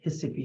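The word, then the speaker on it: Recife: in your Spanish on it says r-e-c-i-f-e but it's pronounced his sippy and they say EO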